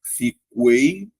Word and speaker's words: fiquei: Você faz fiquei ou fiquei. Fiquei, certo? Ou seja, a letra U não é pronunciada.